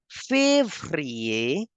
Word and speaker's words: février: In Feb, you can see there is accent as well as ER. So I have to make the sound of A twice. Janvier, février, March will be pronounced as Mars.